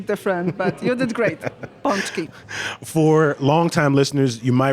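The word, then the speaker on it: pączki: to hear something different but you did great punchki for longtime listeners you might remember Joanna who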